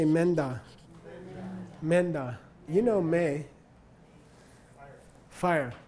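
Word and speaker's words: མེ་མདའ: When there's an open vowel in the first syllable of a prenasaled second syllable, the effect is even more pronounced of a nasal between the two.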